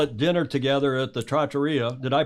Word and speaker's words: trattoria: I know you're all at dinner together at the Trattoria. Did I pronounce that correctly?